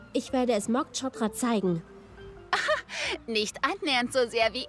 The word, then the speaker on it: zeigen: Zeigen is to show. Remember to pronounce the Z sound with a T in the beginning, then S. Yeah, like a snake. Zeigen.